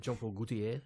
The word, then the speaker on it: Jean Paul Gaultier: Is that how you say it? Jean Paul Gaultier. Yeah, that's it.